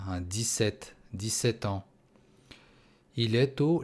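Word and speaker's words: dix-sept: Буква P не произносится. 17.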